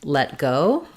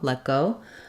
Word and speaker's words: let go: actually just hearing that the way we say the T in let go is that we don't release it so I don't